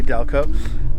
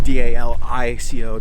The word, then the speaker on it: DALiCO: DALiCO. It's DALiCO. The I is silent.